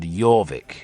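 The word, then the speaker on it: Jórvík: what happened at jovik that was how the Danes pronounced theophawik for some reason they found that name difficult so they said jorvik instead who was the bravest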